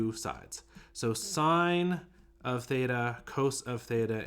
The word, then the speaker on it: sine: even though it's spelled sin it's pronounced sine if that makes sense so that's sine and